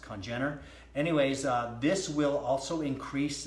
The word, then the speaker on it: congener: Congener, I believe is the way it's pronounced, Congener.